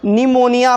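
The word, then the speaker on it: pneumonia: एम ओ एन आइए अब देखिए दोस्तों इसको निमोनिया पढ़ रहे हैं ना यहां पर जो है दोस्तों यह पीस साइलेंट हो गया है यहां पर यह जो पॉइंट है यह पिक उच्चारण नहीं हो रहा है क्योंकि यह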